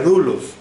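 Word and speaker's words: doulos: en el idioma griego es la palabra dulos se escribe debo u l o s se pronuncia rulos y quiere decir siervo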